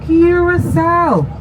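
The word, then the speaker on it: Curaçao: Welcome everyone to Curacao. That's how we pronounce the name of the island.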